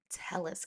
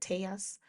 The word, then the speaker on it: Telles: Um, so moving on, we will now talk about, let's get into the Robert Tellis case. I think his name is either Robert Tellis or Teas. I think he pronounces it Teas.